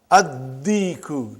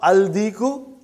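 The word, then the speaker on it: الدِّيكُ: And when you will pronounce them with alif lam, you will not pronounce lam. Okay, look at this, brother. Come to number 3 and go down. Come to number 3 and go down. Addiku, not aldiku.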